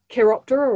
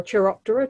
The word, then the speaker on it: Chiroptera: So they're categorized into order Chiroptera or Chiroptera, depending on how you want to pronounce it.